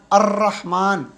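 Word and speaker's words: الرحمن: roof में से है अ रहमान अर रहमान रा जबान ऊपर जा रही है तो इसलिए अलिफ जो है व रास्त रा से मिल जाएगा और यह लाम जो है साइलेंट हो जाएगा अर रहमान ठीक है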